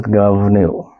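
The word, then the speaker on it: Goibniu: And the next one is Govnu, spelled G-O-I-B-N-I-U. Pronounced Govnu.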